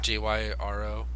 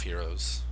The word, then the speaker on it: gyro: how to pronounce that my wife always says it's gyro but it's really hero she's like no it's it's we're in America Jesse it's gyro we're America yeah okay